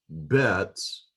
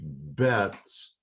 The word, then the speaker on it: bet: So this letter with the dagesh, with the dot, is pronounced as a B, as in boy. And normally, if there are multiple bets in the word, the